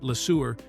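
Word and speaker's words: LeSueur: had to go because he thought Lassour sounded too much like the word sewer, which obviously wouldn't help sell movie tickets.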